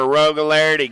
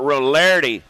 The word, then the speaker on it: Rogularity: Rogularity, got to be the silent G, getting it done on the 1.